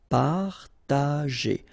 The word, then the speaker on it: partager: Partager. Okay, parta, and then here, G and E after. Well, R in that case, it's the sound A, so you pronounce it J, G. Okay, partager. Partager.